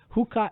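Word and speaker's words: Huca: Hooker is spelled H-U-C-A-H-U-C-A.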